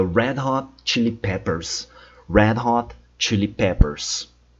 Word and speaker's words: Red Hot Chili Peppers: E por último, o nome da banda Red Hot Chili Peppers. Red Hot Chili Peppers. Cuidado com a pronúncia do R, é sempre red. Red é sempre o som de R.